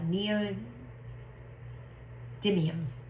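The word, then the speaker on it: neodymium: the shells, uh they are called ne uh neo demium.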